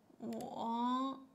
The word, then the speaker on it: 我: Yeah, 我, yeah, 我, 我, third tone, I, 我.